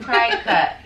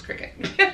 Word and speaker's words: Cricut: I pronounced that cry cut. Yeah, you know. I used to think so too. It's Cricut.